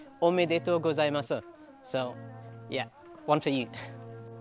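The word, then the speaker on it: おめでとうございます: And to say congratulations in Japanese is, hopefully I'm saying it right, omedeto gozaimasu.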